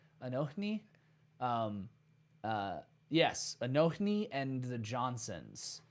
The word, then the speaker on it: Anohni: Anohni? Anohni.